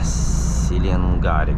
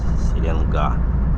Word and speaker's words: Селенга: вот везде такая Долина Селенга опять может Неправильно там ударение ставлю вроде на а последняя надо сенга Селенга как-то так Ну короче я даже